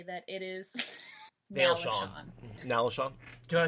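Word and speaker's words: Nalesean: Like, S-E-A-N is Sean, right? Who agrees with me? I mean, it's Sean Chan. I'm not saying it's not, but I'm also telling you how it's pronounced in the audiobooks.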